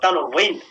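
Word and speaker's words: تنوين: শব্দের শেষে তানভীন থাকে এটাকে তানভীন লিখছি আমরা উচ্চারণ হবে তানভীন তানভীন আমরা তো হাফেজ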